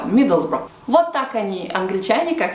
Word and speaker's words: Middlesbrough: Поэтому, если вы поедете в этот город, произносите название правильно. Миддлсбро. Причем бро практически не произносится. Миддлсбро.